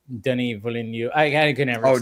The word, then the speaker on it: Denis Villeneuve: I cannot still say Denis Villeneuve. I can never. Oh, Denis Villeneuve every time.